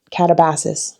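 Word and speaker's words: Katabasis: Um I call it Catabasis and not Catabasis because I actually heard RF Kuang giving a talk about this book and she pronounced it catabassis.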